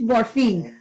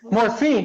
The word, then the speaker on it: Morfin: name is Morphin how do you say their last name the right way because I know it huh it's morphine morphine see I thought that